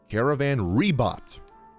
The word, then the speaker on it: Caravan Ribat: Caravan Ribat.